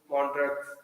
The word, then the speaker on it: Montreux: of the symposium in Montreux. Montreux. Montreux. Yes, don't know X and all. Simply it is Montreux. Montreux. EUX, etc. As in French, they don't pronounce everything.